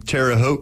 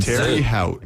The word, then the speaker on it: Terre Haute: And also, shout out to you, Dave, for not getting Terre Haute correct.